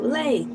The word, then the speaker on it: Elay: My name is LA. Pronounced like LA like the city.